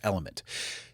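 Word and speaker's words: LMNT: Like it was demanding, but it was also Today's episode is brought to you by Element. LM NT. It's okay to say it either way. It's pronounced Element.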